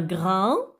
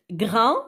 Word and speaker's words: grain: A-I-N. Ah bon, c'est déjà A-I se prononce A. Alors avec N, A-I-N, un.